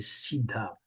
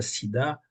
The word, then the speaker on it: siddha: Donc là, on les appelle les siddhas. Bien prononcer le H aspiré pour que ça ne fasse pas sida, siddha.